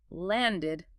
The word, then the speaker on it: landed: Or land, ends in d. Past tense, landed, again, 2 syllables.